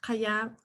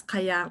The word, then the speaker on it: Qajaq: My name is pronounced Kaya. The generally doesn't create much problems, but my name is Kaya.